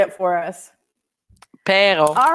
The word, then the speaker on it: Perron: It's pronounced Perron.